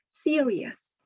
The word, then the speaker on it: serious: pronounce this word serious the stress is on the first syllable series and this means showing